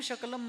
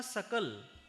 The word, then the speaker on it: सकल: समाज सकल मुनि संघ वो कहना चाहता था सकल लेकिन उसने कह दिया शकल सकल का अर्थ है संपूर्ण और शकल का अर्थ है टुकड़ा खंडित वो अखंड जैन समाज कहना चाह रहा है लेकिन सकल के बजाय उसने शकल कहा तो टुकड़े-टुकड़े हो गए बराबर अर्थ बदल गया सकलम शकलम स्वजनम स्वजनम